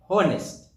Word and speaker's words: honest: Whereas, where H is indirectly pronounced, for example, H is silent on a word. For example, hour, hour, honor, honest. H is in you, it's silent.